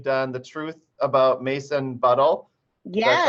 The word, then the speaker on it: Buttle: Yeah, in our category of trees, from all the book talks we've done over the years, we've done The Truth About Mason Buttle.